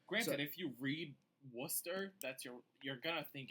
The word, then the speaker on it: Worcester: And he said, oh no, it's Worcester.